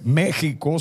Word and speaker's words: México: eso es que estimados méxico se pronuncia con jota pero esa equis que venga y éste una equis ahogada que propia de aquella forma de hablar bien investiguen antes de